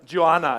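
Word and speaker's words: Geoană: name so I was this Joanna is the right pronunciation because I don't want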